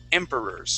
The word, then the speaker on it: emperors: emperor Emperors and we're the accent is at the very beginning of the word Emperors try that please Emperors